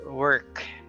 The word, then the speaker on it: work: okay for example here you don't say wo work I have no work no it's just ER work worker okay but except for